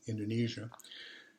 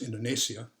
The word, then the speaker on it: Indonesia: east indies until 1945 and then it became indonesia um it actually is pronounced indonesia but we pronounce it indonesia and uh so